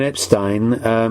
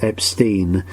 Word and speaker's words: Epstein: Now, I've been saying Brian Epstein because that's how he said it, but his family always pronounced their surname as Epstein, which is why there is a constant confusion of some people calling him Epstein and some Epstein, and they're both right.